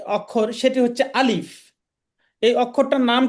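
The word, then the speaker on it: ألف: এটার নাম হচ্ছে আলিফ। আলিফ। আলিফ বলার সময় আমাদেরকে একটু চেষ্টা করতে হবে। আমাদের উপরের দাঁত নিচের ঠোঁটের সাথে লাগিয়ে উচ্চারণ করতে হবে।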